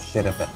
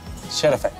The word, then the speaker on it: Şerefe: Şerefe. Şerefe.